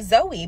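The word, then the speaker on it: Zoë: that is my name it does not have to have a y at the end for it to be Zoe because the two dots over the E which is called an umlaut makes it a long e so that is how it is Zoe and not Zoe now I'm not the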